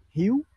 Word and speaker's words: Hieu: My name is Hugh. So, Hieu, Hugh. And, the word Hugh, you can say it like huge, like huge, or like Hugh Jackman or something, that kind of name.